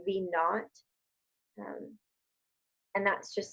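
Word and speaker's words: v₀: i for initial or v zero which is pronounced v naught and that's just saying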